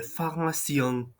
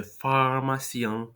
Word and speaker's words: pharmacien: you would say le pharmacien, and in order to make that nasal sound, you basically have to put your tongue um, towards the back of your mouth, kind of like this. Le pharmacien, le pharmacien.